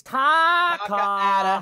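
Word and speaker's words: Takah: I can't find it because the H is silent. Where's the H? You gotta. It's Taka. Hold up. Taka. Ta 101. Where's the H? At the end. Silent, like the reverse of me.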